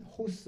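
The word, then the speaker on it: ὡς: 빨간 단어쓰라고 되어 있는 호스 위에 이렇게 따옴표 같은게 붙어 있을 때 호스라고 읽는데 여기서는 뭐 뭐처럼이라고 되어 있는데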